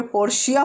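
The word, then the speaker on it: Portia: Sentence, पोर्टिया pleaded the case in favour of Antonio है ना, पोर्टिया ने, यहाँ पे पोर्शिया पढ़ा जाएगा वैसे इसको ना, पोर्टिया नहीं पढ़ेंगे, पोर्शिया साइलेंट रहता है इसमें।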